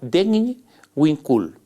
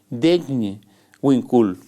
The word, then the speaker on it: Degn Winkul: Hay una asociación indígena que se llama, es difícil de pronunciar, se llama Degn Winkul. ¿Por qué es difícil de pronunciar? Porque se escribe D-H-E-G-N, Degn Winkul.